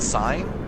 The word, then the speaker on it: Sin: Is it sin? Is it sign? It could be Well, either. we've heard it pronounced out loud, so Sin, I'm gonna go ahead and say it's sin.